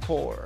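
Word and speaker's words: Corps: city vino umbrella course y si se pronuncia core porque no viene del término corporation sino del término porque es un término militar como sea este fue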